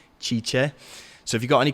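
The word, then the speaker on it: Cice: Her name is spelled C-I-C-E, Chicha.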